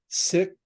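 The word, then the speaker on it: Sikh: He's Oh, the first sick. It's not Seek anymore. It's Sick, by the oh, way.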